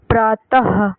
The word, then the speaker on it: प्रातः: अनुस्वार की तरह विसर्ग भी स्वर के बाद आता है और इनका उच्चारण ह की तरह होता है। जैसे दुख प्रातः तो लास्ट में ह